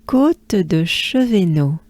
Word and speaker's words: Côte de Chevenot: So here, basically, we start with côte, côte, côte, and then it goes into de.